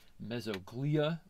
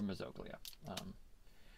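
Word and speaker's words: mesoglea: a very thin uh mesoglia people say mesoglia is another pronunciation of it or mezoglia so but it's this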